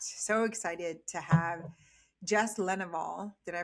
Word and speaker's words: Lenouvel: So excited to have Jess Lenouvel. Did I pronounce that correctly?